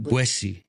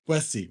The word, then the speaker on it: La Boétie: Boétie. Boétie.